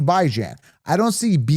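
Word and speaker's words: Bijan: By as in bi-weekly, Jan as in ran as in tan as in man as in fan. By bi-weekly. Jan as in tan. Well, that's how he pronounces it. Shut up. I don't care. That's how I pronounce it. I don't follow the herd. That's how I see it. When I look at that name, I see Baijan.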